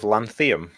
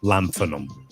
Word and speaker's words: lanthanum: Thank you so much for saying it correctly, Mike. I appreciate it. What instead of lanthium? Is that your grand? Yeah. Yeah. There's also no F in it. Lanthanum.